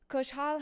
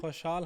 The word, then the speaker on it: خوشحال: The kha is not in English, so it's always tricky.